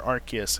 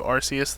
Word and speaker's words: Arceus: Legends rcus P or archus if you prefer but the way the Japanese pronounce arus it's closer to arus than archus and so so do